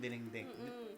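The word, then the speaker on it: dinengdeng: right gustong-gusto ko dito ko lang Natikman yung diningding I'll pronounce it right diningding Did I say it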